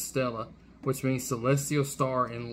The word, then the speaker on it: Stella: read as star Stella written as main true body but pronounced as Stella which means Celestial star